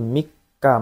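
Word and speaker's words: 三日: Oke, di sini ada Junigatsu Sanjunichi kara Ichigatsu Mika made. Tanggal 3 itu bacanya Mika ya.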